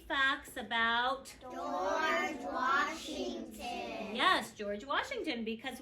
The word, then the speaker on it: George: name the correct way, you might remember he has a soft G, J. He has these 2 letters working together for a long O sound, George. He has another soft G and a silent E. Probably it's coming over here to make the O long.